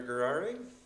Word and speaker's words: Gurari: My name is Dr. Gurari, pronounced like Ferrari with a G.